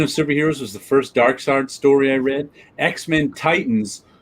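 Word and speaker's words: Darkseid: english if it's first i'm told that in german they pronounced it as an i that's why everybody thought lots of people thought it was dark seed well it's german don't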